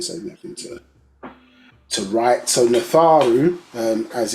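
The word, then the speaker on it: Nadjaru: Natharu, and so that DJ is pronounced like a it's more as a TH sound for the pronunciation. Yeah, so it's not Najaru, it would be Natharu, like a TH sound, because it's a single letter.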